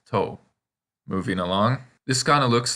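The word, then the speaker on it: と: It looks like a toe with the nail bent back. Sorry, but now you won't forget that it's pronounced toe.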